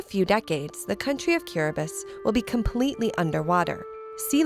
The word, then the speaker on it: Kiribati: the pounding of waves cubus the ti is pronounced like an S is a group of